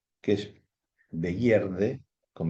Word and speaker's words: Begierde: También lo compartía con otra palabra en alemán que se pronuncia Begierde, que es Begierde, con B larga, pero con la interpretación de